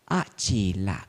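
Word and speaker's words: Acela: One day, when he met with his friend, an old friend, Achila Kasapa. Achila means 3 syllables, actually 2 syllables. A and Chila.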